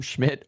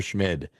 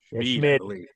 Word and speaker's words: Schmid: Is that how you say his name? Schmidt or Schmid? Schmid. Schmid, yeah. Do you think that momentum,